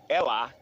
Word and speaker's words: Ella: But if you say it in Spanish, it's ella. It's not la in Spanish. So when I see E-L-L-A, I usually think ella.